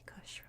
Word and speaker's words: Kush: I've seen it pronounced Kush, Kush, all sorts of different ways. I tend to alternate in between, so don't be too bothered by it. I try to say Kush with hush, but I'll use both.